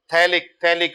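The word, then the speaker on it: phthalic: ठीक है, पथैलिक लिखते पथैलिक है। अब स्कूल में सकूल थोड़ी बोलते हैं, स्कूल बोलते हैं ना, स्कूल वाला, वही वाला है मामला। तो पी साइलेंट होता है, तो पथैलिक लिखेंगे, पढ़ेंगे थैलिक।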